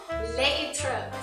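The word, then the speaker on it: להתראות: Leitrot. So when you want to say goodbye in Hebrew while you're there visiting in Israel, say leitrot.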